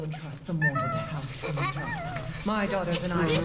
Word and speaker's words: Dimitrescu: I'm only going by like the Capcom pronunciation. I know it's like actually pronounced like Dimitrescu.